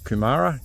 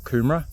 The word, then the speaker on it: Kumara: We're heading to Kumara, not Kumara. Kumara is the sweet potato. I think this is pronounced Kumara because it's named after a plant, flower. something like that, but not a sweet potato anyway.